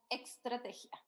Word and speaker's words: Estrategia: Él es socio de Jericó Associates en Perú y también de la consultora Estrategia Group. ¿Lo pronuncié bien? Correcto. Es como Extrategia.